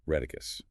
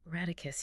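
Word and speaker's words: Rheticus: But the real catalyst was a young energetic Lutheran mathematician named Jorg Joe Kim Reicus. Reticus.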